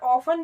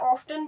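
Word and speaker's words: often: यहाँ पे आप देख सकते हो इसका मतलब, इसका प्रोनाउंसिएशन ऑफन भी होता है, ऑफ्टन भी होता है, लेकिन जो हम डेली यूज करते हैं इंग्लिश, उसमें हम ऑफन ही यूज करते, मतलब प्रोनाउंस करते हैं, ठीक है, इस वर्ड को।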